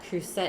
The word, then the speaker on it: Le Creuset: Yeah, creuset is pronounced creuset. Le creuset.